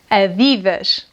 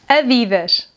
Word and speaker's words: Adidas: Another well-known clothing brand is this one and we pronounce this brand like this: “ADIDASH”, “ADIDASH”.